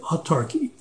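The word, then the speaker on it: autarky: Nazi Germany uh have practiced what's called economic utarchy and that's spelled a u t a r k y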